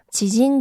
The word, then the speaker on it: 知人: 그래서 여기서는 지진 조세 하면은 지인 여성이 돼요. 그래서 진인이라고 생각하시는 분들도 조금 계시던데요. 지진이라고 읽어주시고 그 다음에 세츠다는 한자 그대로 절단이에요.